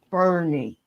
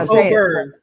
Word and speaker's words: O'Byrne: Bernie. Did I say it right? No, O'Byrne. O'Byrne. Okay. Yeah, like B-U-R-N.